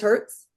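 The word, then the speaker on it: hertz: is that that's 432 how do you say hzz oh it is Herz yeah 432 Herz music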